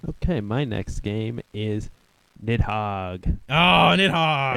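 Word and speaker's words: Nidhogg: a small thing like the pronunciation of the game I think it's actually nigh hog oh cuz it's like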